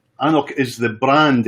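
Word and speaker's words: AnCnoc: And it's Annoch. It's pronounced Annoch, which is Gaelic for hill. It's in the Highlands. It's just outside inside Huntly, but it's Annoch is the brand.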